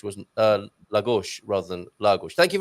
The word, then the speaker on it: Lagos: In Portuguese, the penultimate syllable is usually the accented one, unless you have a diacritic mark, of course. Oh, an accent. Thank you. Then that one is the accented syllable Lagos, for example, Lisboa, Martinho.